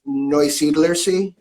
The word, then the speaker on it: Neusiedlersee: And going to attempt to there you pronounce go. it. I think I know how to do it. It's Neusiedlersee.